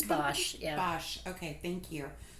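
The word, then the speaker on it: Bache: It's Bosch, yeah.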